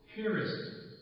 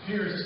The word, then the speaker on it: Piarist: I am a Piarist father. That's spelled P-I-A-R-I-S-T. I pronounce it Piarist. Like where you put a boat in a pier, then put an IST on the end of it.